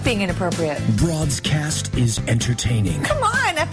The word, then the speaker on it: Broadscast: It's Broadscast.